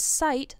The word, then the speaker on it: site: see with your eyes although these words aren't pronounced exactly the same the T sounds like a fast D when spoken quickly so they can get